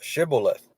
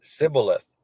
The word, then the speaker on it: Shibboleth: It says, Then say then said they unto him, Say now Shibboleth. And he said Sibboleth, for he could not frame to pronounce it right.